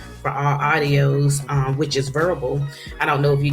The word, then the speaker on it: Vurbl: nationwide audio station, which is Verbal, which is spelled VURBL.